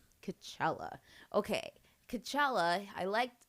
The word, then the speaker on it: T'Challa: It's T'Challa. T'Challa.